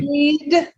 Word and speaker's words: need: excellent safe and you need need yes we need it's gonna be long because that's that voice sound at the end need and neat sometimes you feel